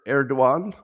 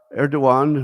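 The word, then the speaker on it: Erdoğan: too much trust speaking of trust turkey's leader erduan and I like I like pronouncing his name correctly because it makes me sound like I know more than I do yes uh eruan who recently visited a cutter because you call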